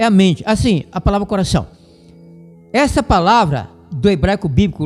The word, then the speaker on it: coração: muito bonita, só que uma boa parte do pessoal traz uma pronúncia feia, fechada. Fala assim: "Coração, inclusive, cantando hinos e músicas seculares e tal". coração, não é coração.